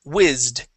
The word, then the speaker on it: whizzed: here we're going to practice the Ed ending it is whizzed whz okay one more